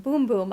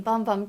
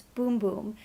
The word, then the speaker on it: Bum Bum: how you pronounce it boom boom i've been saying bum bum cream but they corrected us they said it's boom boom which i guess is how you say it in portuguese or that's how they